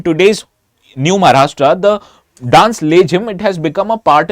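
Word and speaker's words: लेझीम: Now, as I told you, this dance is called as Lezim in English, but actually it is pronounced as Lejhim in Marathi.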